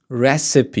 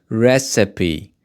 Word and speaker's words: recipe: of flavor so the first word here is recipe you can see that the pronunciation of this word is very tricky recipe recipe recipe let's read the definition a set of